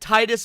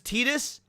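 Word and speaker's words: Tidus: I like you pronounced it Titus back then. I learned it was Tetus.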